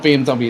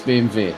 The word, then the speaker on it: BMW: to be yeah yeah because it's not bmw it's bmv and then it's montagebot